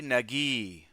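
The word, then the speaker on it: Nageeye: g to hang out for a sec Abdi Nagi I see because the two e's is e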